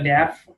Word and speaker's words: debt: a debt. Yeah. About a debt. About Yeah. Cái từ nợ ấy thì là nó chữ B câm đấy. Nên cho nên sẽ đọc là a debt.